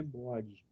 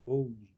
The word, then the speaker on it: Bode: E é possível representar isso graficamente por meio desse diagrama de Bode, não é Bode, é Bode.